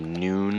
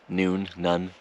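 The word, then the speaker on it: Nuun: Drinking some electrolytes, the Noon, I think that's how you pronounce it. It's the N-U-U-N brand, Noon, Rest, Lemon Chamomile, something like that.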